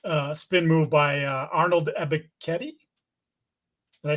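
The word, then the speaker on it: Arnold Ebiketie: Um, Morgan got undressed by a filthy uh spin move by uh Arnold Ebetti.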